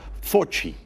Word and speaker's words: Fauci: praderas este es el doctor anthony fauci se pronuncia fortín y acaba de decir que en sus modelos